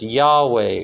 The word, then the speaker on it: Yahweh: that's what the cabal is about why HWH pronounced Yahweh orange for short jaw first so that you